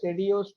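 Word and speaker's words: Sédillot: That is the way it should be pronounced because it's a French name. Even though you write the spelling as Sedilots, it is pronounced as Sedio's triangle. Here, this LL is silent there.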